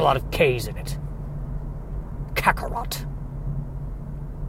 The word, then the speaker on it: Kakarot: Kakarot. Well, it's got 2 C sounds, Kaka and then rot, and then the T.